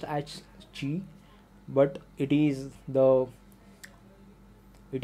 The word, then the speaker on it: qi: but a qi so it is like uh pronounced as g but it is the it is q i g is basically a chinese word the meaning of chi is nothing but the life force and this